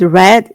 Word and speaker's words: read: Verbs like read, pronounced read in the past, cut, put it down.